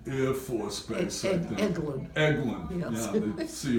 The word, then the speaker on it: Eglin: You would have been at Elgin Air Force Base, I think. Eglin. Eglin, Yes. yeah. See how I can pronounce it.